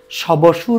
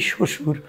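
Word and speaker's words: শ্বশুর: সবসুর কেউ উচ্চারণ করি না। করি শসুর।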